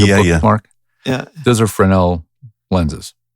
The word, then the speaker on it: Fresnel: Literally, it's Fresnel, but it's pronounced Fresnel. So a Fresnel lens is the kind like you can see